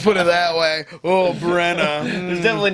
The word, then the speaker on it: Bregna: the only single brna I think it's called Brena bregna or Brena yeah they pronounce it Brena it's got that Cy